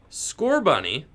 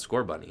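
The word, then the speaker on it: Scorbunny: correctly I don't know how do you pronounce score bunny is it its score bunny right that's the way I've always said it score bunny there are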